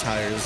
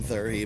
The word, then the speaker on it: Tyre: I like to jokingly call him Thurhy, but for professionalism's sake, we call him Tyre because that's how you actually pronounce that.